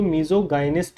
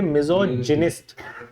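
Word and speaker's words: misogynist: पर गलती से भी इसको मीजोगाइनिस्ट मत बोलना, ये हम क्या है बेटे? मिजोजिनिस्ट। मिजोजिनिस्ट, ठीक है। मीजोगाइनिस्ट मीजोगाइनिस्ट चलाते रहते हैं, टीचर्स तक भी क्या ही बोलते हैं? मीजोगाइनिस्ट। बट the correct pronunciation is मिजोजिनिस्ट, ठीक है।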